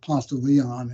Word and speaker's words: Ponce de Leon: in our own term in southern way we pronounce it Ponce de Leon and not consider daily that's how the Springs